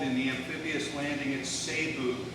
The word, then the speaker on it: Cebu: He's involved in the amphibious landing at Cebu, C-E-B-U, and it's sometimes pronounced Cebu. I really don't know how they pronounce it.